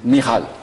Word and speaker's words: Michal: Michal. Voilà, c'est la prononciation hébraïque.